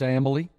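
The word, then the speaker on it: Amalie: for four consecutive days how to pronounce it it's ambly like family they tell me it's like family and uh i will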